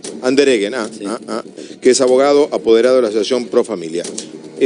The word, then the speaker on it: Andereggen: Y Andereggen, así me dice que se pronuncia el apellido. Andereggen, sí.